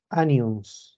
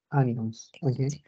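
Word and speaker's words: onions: cebion por si acaso se escribe con O pero se pronuncia como una a ya anions ya que nosotros en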